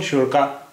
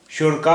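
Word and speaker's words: شرکاء: लिखा हुआ है और अरेबिक में बहुत सारे ऐसे शब्द है जो हमजा पर खत्म होते हैं इसे कैसे प्रोनाउंस करेंगे देखिए य शीन रे काफ अलिफ शीन रे काफ अलिफ हु शर का और उसके बाद हमजा है तो हम तो य हुआ शरका आ शर का शरका शर का शर का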